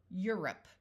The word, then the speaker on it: Europe: sounds of e today euu has a long u sound of U or U depending on what letter it comes after in these words it uses the u sound like in Euro Europe notice this o is not long Feud feudal deuce the